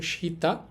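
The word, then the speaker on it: 下: পিকচারের সাথে খেয়াল করেন হুবহুব মিলিয়ে দিয়েছি আশা করি মনে থাকবে কেমন এখন দেখেন এই কাঞ্জিটার কুনিয়ম বা জাপানি উচ্চারণ হবে সীতা অথবা হবে সাগারু এখানেছা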